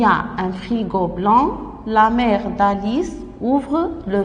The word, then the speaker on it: blanc: Il y a un frigo blanc. Le C ne se prononce pas.